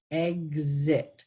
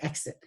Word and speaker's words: exit: And the correct pronunciation for exit is exit, because gz, eggs, the X makes a guz. And again, this is one of the words we tend not to, we say exit in the region, which